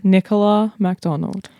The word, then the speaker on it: Nicola MacDonald: Nicola MacDonald.